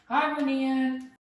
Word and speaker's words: Hibernian: Hibernian.